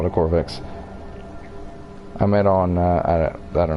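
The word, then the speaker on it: Korvax: a corvex entity corvax technically it should be pronounced corvax entity I am but I might just call the core vixx I met on that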